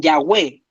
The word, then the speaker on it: Yahweh: Algunos dicen Yahweh, que es como una forma de pronunciarlo, que en el fondo implica esto.